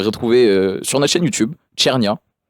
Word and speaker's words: Cernia: Vous pouvez le retrouver sur notre chaîne YouTube Chernia qui s'écrit CNIA à l'italienne et voilà et c'est un clip justement qui illustre un peu le propos de Alan B Neighbor.